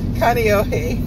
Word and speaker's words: Kaneohe: But he did real good when I told him phonetically how to say Kaneohe. I just typed it out. Kani o he. Kaneohe.